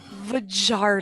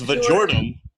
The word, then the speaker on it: Vardum: That was a Holy Vagardom. Oh my god. That's That's Vardum. You're pronouncing it wrong.